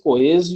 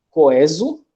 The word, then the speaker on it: coeso: o caso de obeso, coeso e obsoleto, que podem ser pronunciados com E aberto, ou seja, podem ser pronunciados obeso, coeso e obsoleto.